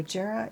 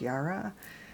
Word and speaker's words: Jera: So Jera is, or sometimes pronounced Yara.